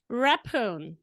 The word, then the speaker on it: Rephun: actual welcome hepoon did I say it right but you have to unmute yourself unveil yourself all right I will say it again the last name how did you raphoon yes that's correct oh my God I